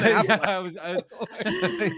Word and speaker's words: Affleck: Like, no, it's not Ben Emphasis. It's Ben Affleck.